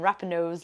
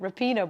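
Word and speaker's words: Rapinoe: students laughed me when i pronounced megan rappanov's last name wrong it's repina oops i got it wrong too repino by the way and they were impressed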